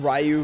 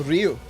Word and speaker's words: Ryu: Rayu versus Ryu. It's a Ryu. Ryu. Very simple. Ryu.